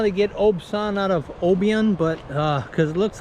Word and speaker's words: Obyan: scooter once it gets packed down this is Oban Beach a lot of people pronounce it Oban Beach the locals told me it's pronounced obson Beach anyways we first get here there's a